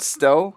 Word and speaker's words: Stowe: And is it Stowe? Is that how you pronounce it? Yeah.